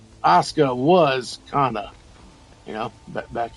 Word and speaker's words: Asuka: But I mean, Kana was Assuka or to say it properly, Asuka was Kana, you know, back in the day.